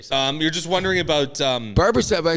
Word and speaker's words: Barbashev: Bursov? Barbashev.